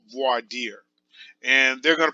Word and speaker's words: voir dire: case which is called voir dear and they're gonna pronounce it a little bit differently but essentially it's a French word basically it means see